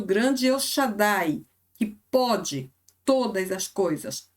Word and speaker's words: El Shaddai: El Shaddai, assim o pronunciamos, certo?